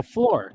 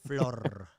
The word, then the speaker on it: Flor: So Flor. No, you're saying it wrong. Yeah, Flor. Gotta roll the R's.